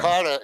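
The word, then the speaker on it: cara: Kata is actually C-A-R-A or C-A-R-R-A. Yeah. But when they pronounce it, it sounds like it's a T, right?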